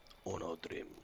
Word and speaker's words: Onodrim: I have to pronounce that properly. Onodrim.